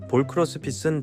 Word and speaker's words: Ball x Pit: 이미 정답을 말씀드렸지만 제목의 X를 어떻게 읽어야 할지 궁금해하실 분들이 계실 텐데 정답부터 말씀드리면 크로스 또는 바이로 읽는게 정석입니다. X라고 읽으시는 분들이 계시더라고요. 그렇게 읽어도 문제는 없는데 정석은 알려 드리고 넘어가도록 하겠습니다.